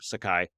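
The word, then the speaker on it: Saiki: Patricia Sakai I think I think that's how you say her name Sakai and she won uh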